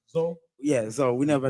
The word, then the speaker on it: Zoe: it's pronounced Zoe.